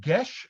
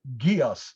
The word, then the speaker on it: geas: many years ago and that's the way i pronounce it uh it is a it is called gesh across the multiverse uh or for those of you who do not speak gaelic geass across the multiverse so it is uh basically